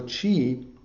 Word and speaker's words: qi: is is really two kind of words made into one word and again remember that this is is a way of expressing something um that has manifested through centuries so chi sometimes pronounced ki is represents what's called